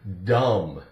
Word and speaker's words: dumb: Here we have the word dumb. D-U-M-B, dumb. Again, we have duh, the D, duh, silent B.